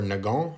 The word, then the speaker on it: Nagant: a russian name and nagant or nagong is a walloon belgian name so unless your goal